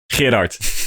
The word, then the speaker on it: Gerard: Certain like we have the Dutch name Gerard, which is a and not a lot of people are able to even make that sound.